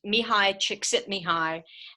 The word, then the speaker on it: Csikszentmihalyi: about a book by an Eastern European psychologist me hi chick Sydney hi and yes I do give extra credit if students learn how to pronounce his last name correctly dr.